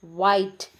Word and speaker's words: white: knowledge similarly the first one is white here h is silent then in the second